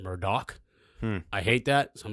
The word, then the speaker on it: Murdaugh: We are going to discuss, a lot of people think it's Murdaugh. Apparently, you pronounce it Murdoch.